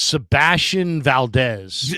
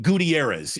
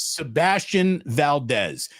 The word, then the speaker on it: Sebastian Valdez: tell you, there is let me make sure I got his name right. It was the kid from Washington. I get his name wrong all the time too. His name's Sebastian Valdez. I almost called him Gutierrez. I almost said Sebastian. I called him Alvarez yesterday. It's Sebastian Valdez.